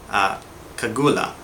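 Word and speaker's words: segullah: I believe it's pronounced kagula.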